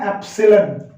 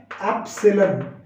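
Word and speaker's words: epsilon: पर ई नहीं है, इसकी प्रोनाउंसिएशन है एप्सिलॉन। क्या है इसकी प्रोनाउंसिएशन, इसकी प्रोनाउंसिएशन है एप्सिलॉन।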